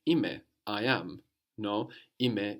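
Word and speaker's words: είμαι: No, ime is spelled E-I-M-A-I, and you have that A-I on the end giving us the e sound as you do in ome.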